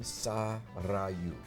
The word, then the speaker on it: Sarayu: And the name Sarayu comes up in the list, and I like it. I like it. She explains how to pronounce it, and it's got a rolled R.